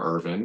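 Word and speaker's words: Ervin: days named Senator Sam Irvin he spelled it e RV iin but it's pronounced exactly like IV in like my name and he said oh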